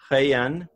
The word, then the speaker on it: Rayan: He pronounced, I swear he pronounced Rayan the same way my French my French family members pronounce my name Ryan.